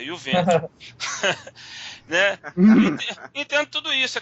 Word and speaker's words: Juventus: Eu tenho que falar Juventus porque o Cleiton gosta da pronúncia correta, Juventus.